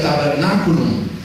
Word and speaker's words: tabernaculum: La palabra tabernáculo es derivada de una palabra latina que se pronuncia tabernaculum.